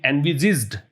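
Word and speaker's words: envisaged: तो कह रहा है कि ये जो पैकेज है वो उतना प्रभावी नहीं हो शायद जितना कि मे हैव बीन एनविजिज्ड, एनविजिज्ड बोलते हैं, एनविजिज इसका प्रोनाउंसिएशन है, इसका मतलब है जितना कि आपने पहले से देखा हुआ था।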